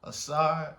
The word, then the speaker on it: Asar: Asar, Aset, and Heru.